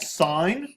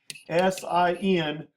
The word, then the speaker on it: sine: write it not as sign but we're going to write it as SI n in this case we're going to write it of an angle so it's pronounced sign not sin okay not to be